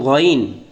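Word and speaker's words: غ: আইন এবং গইন, আইন এবং গইনের মধ্যে পার্থক্য হলো নক্তা। আইন হবে খালি, আর আইনের উপর যদি এক নক্তা থাকে তাহলে সে গইন। আইনের উচ্চারণ হবে শক্ত, গইনের উচ্চারণ মোটা।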